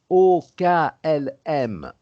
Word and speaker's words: OKLM: En fait, c'est donc quand on prononce ça avec les lettres prononcées à la façon française, hein, it's not OKLM in English, but c'est OKLM en français.